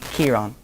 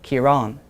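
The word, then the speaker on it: Ciarán: So, if you have two-syllable words, most of the people in the north pronounce the first syllable. They emphasize it.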